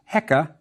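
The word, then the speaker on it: heqa: to translate we have the crook which Fritz pronounced hecka and means ruler remember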